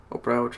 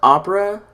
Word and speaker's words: Opera: services the don't work Oprah I already sold showed you I know it's pronounced opera but I keep wanting to pronounce it Oprah you know like Oprah